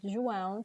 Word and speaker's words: João: So one of the tricks that I think is one of the best tricks to learn how to pronounce João is to imitate the sound of a high-speed car.